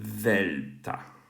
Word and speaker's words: Δέλτα: modern pronunciation right now so the modern pronunciation for this is um the the like the English word the so this would be Delta right um whereas In classical times it was D like dark um but anyway so